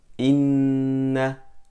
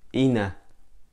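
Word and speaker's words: إنّ: For example, we say inna, not ina, and we say amma, not amma.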